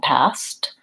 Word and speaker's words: past: make sure that you're paying attention to the SK and the st that neither of those sounds drop off and we do say the K and T in that case we say ask and past jobs is vowel ah